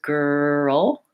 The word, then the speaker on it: girl: gir oh girl girl so even though it's a one syllable word if I break it down into two syllables girl girl and then I begin to speed up I'm usually more successful at pronouncing it correctly but the L because it's a final L has this kind of us on before Oh rather than out the start up words like light and little or and then making